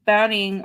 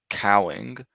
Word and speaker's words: Cowing: which will be interesting to see, because with Browning, or is it Browning or Browning? It's Cowing.